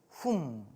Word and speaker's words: 훔: 그래서 입구자 옆에 소우자를 쓰면 소울음 훔. 단어를 보면 딱 느낌이 오시죠? 발음은 훔. 그래서 입이 닫히는 소리예요.